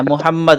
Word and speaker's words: محمد: হ্যাঁ, মুহাম্মদ। আমরা সম্ভবত হারুন ভাই ওই দিন ছিলেন না। আমরা বলেছিলাম মুহাম্মদ কিভাবে উচ্চারণ করব। প্রথম কথা হলো ব্যাকরণের দৃষ্টিকোণ থেকে এই মিমে গুণনা করব, মুহাম্মাদ। কিভাবে? মুহাম্মাদ মুহাম্মাদ।